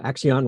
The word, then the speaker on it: Accion: guest kinesh Doshi who is the CEO of Axion Labs did I pronounce that correctly is that is right okay